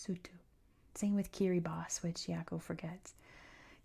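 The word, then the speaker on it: Kiribati: Same with kiri boss which yako forgets. Kiri boss has an i at the end. It's pronounced as an s.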